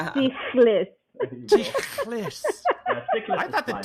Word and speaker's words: Tsichlis: English language, so it's Tsichlis, but Tsichlis is fine. Tsichlis? You know the CH? It's like the cat sound when a cat hisses at you. So it's Tsichlis.